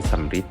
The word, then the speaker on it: สำริด: เป็น มงคล นะ ครับ ชื่อ จันทร์ สำฤทธิ์ เนี่ย เขา สะกด ด้วย อ่า ส เสือ สระอาด ร เรือ สะอิ ด เด็ก นะ ครับ แต่ ว่า มัน ดัน ไป พร้อง กับ คำ ว่า สำฤทธิ์ ที่ แปล ว่า ความ สำเร็จ นะ ครับ ก็ เลย